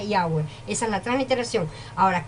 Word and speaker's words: Yahweh: Sí, así, y se pronuncia Yahweh.